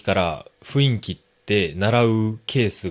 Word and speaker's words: 雰囲気: 思いますけど、この雰囲気を、え、雰囲気って読んだり、ま、言ったりしてしまう日本人本当に多いですね。